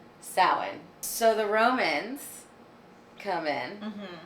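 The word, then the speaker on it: Samhain: it's called sin oh it's spelled totally differently but there was a pronunciation guide sin so the Romans come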